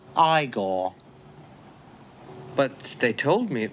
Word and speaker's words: Igor: it's frederick frankenstein i see you must be igor now it's pronounced igor but they told me it was igor well they were wrong then weren't they uh